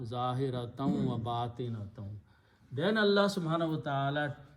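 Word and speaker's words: ظاهرة وباطنة: And in between there is a waw, and that means visible and invisible, but in the tajweed you pronounce zahiratam wa batinatam. Instead of noon, sound noon unna, zahiratam wa batinatam.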